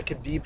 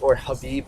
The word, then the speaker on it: Khabib: He muscled up after the Khabib fight. Habib, I think his name is actually pronounced I don't Habib.